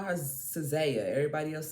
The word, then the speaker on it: SZA: All right, so I call her Cizaya. Everybody else said her name is SZA.